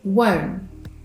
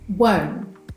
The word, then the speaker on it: won't: When a word ending in NT links with a word beginning with a vowel sound, the final T is silent. So won't becomes won't, won't.